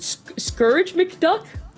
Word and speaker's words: Scourge McDuck: Scourge McDuck? Is that right? That's it. Yep, you got it. Yeah, that was, it's one of those things that you want to say Scrooge and it's not, but him really coming